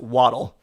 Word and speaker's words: Waddle: want to be called I'm pretty sure that based on his touchdown celebration it is in fact pronounced waddle I don't know sound